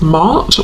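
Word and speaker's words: Maat: And I'm noticing the feather, which is making me think of the Egyptian goddess Mart, or Mat, depending on how you pronounce it, who is about truth.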